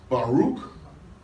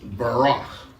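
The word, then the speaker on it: בָּרַךְ: Barak, Baruch. It's usually pronounced Barak.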